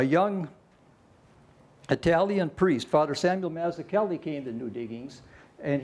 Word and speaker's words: Mazzuchelli: Now, the Irish miners could not pronounce that darn Italian name. No way. So they just took to calling Father Mazzuchelli Father Matthew Kelly. Mazzuchelli was a strong believer